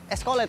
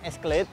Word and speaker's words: Escalade: sebuah keadilan teman-teman nah cara pelafalan dari nama mobil ini adalah escolet teman-teman Jadi bukan Slate atau skd Tapi menurut informasi yang saya dapatkan memang bacanya itu unik sekali ya Nah untuk